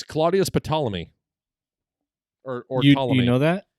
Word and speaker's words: Ptolemy: I don't know how to pronounce. Hold still. It's Claudius Ptolemy.